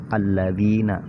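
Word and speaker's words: الَّذِينَ: Cara baca alif lam samsiyah yaitu diidghamkan, ya, diidghamkan. Alladzina, ya, dimasukkan ke lam yang kedua, ya.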